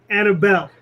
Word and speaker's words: Anibal: me annabel and it's it's very similar to hannibal like hannibal lecter hannibal the conqueror but without the h and uh my family